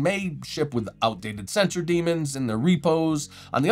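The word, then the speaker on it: daemon: For example, long-term support dros like Debian may ship with outdated sensor demons in their repos.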